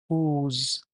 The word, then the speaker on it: whose: इसको प्रोनाउंस आप करते हैं व्होज़, ठीक है?